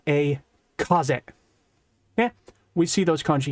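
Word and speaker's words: 風: This kanji means air or wind, and it's still pronounced kaze.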